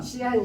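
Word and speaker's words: 西安: 제주포 골목 서안 식당? 아니, 시안 식당입니다. 시안? 원래 서안은 서안을 우리 발음으로 우리 한글로 오면 서안이고 네. 중국말로 오면 시안이고.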